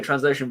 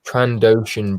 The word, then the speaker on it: Trandoshan: new subscriber 55 minutes ago, Transocean Bricks.